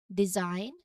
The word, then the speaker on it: design: If you see GN together at either at the start or at the end of a word, the G is almost certainly silent. So this rule will help you avoid mispronunciations and sound more natural when speaking these words.